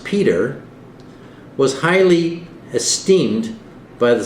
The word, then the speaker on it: Petre: Related to the Sturtons, Norfolks, and Arundels, the Petre family, pronounced Peter, was highly esteemed by the Society of Jesus.